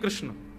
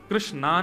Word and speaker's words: कृष्ण: कृष्ण, कृष्णा नहीं, कृष्ण ठाकुर जी का नाम कृष्ण रखा गया।